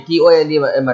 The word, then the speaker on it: Ptolemy: Directly, we pronounce Ptolemy, Tolemy, Ptolemy.